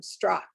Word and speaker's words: Strock: Strock, like Bach.